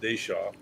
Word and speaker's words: Deschamps: It looks like Deschamps, but he pronounced it Deshaw.